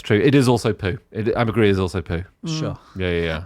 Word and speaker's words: ambergris: Ambergris is also poo. Sure. Yeah. And is it, because I always want to pronounce it ambergris, but I feel like I call it ambergrease.